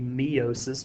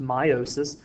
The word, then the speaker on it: meiosis: how you pronounce that it looks like it would be meosis but it's actually pronounced meiosis is a special type